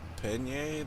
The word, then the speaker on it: Pallegney: I'm gonna call it Pallegney. That's what I've heard it pronounced.